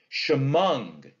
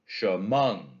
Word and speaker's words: Chemung: Chemung is an iamb. It's unstressed, stressed, right? Chemung.